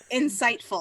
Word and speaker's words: Incytphul: So it's spelled Incytphul. How do you say it? Insightful.